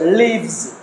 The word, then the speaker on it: lives: But when we add S, and usually we say lives. No, here, we have to pronounce this word as lives. Z sound. So, z sound. Difference is there.